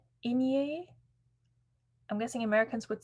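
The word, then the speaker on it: Aigner: Etienne Agnier.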